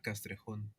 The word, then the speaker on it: Castrejon: Alejandra Guilera Castrehun. Castraon. Okay. Castraon. Good. I wanted to make sure I got the pronunciation right because uh you know I'm trying to learn Spanish myself.